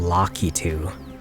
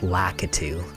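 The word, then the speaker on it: Lakitu: jerk, but like like for example, locku instead of lacatu.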